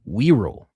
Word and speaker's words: Wirral: How do you pronounce this? The we rule? I don't even know if I'm saying it right still. I got the pronunciation right in front of me. Wirral. All right. A little peninsula in the north of England, situated between Liverpool and North Wales.